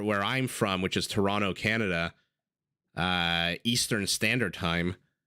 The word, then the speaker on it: Toronto: torontonian uh it's interesting when you say Toronto you don't pronounce the second T right you say Toronto but when you say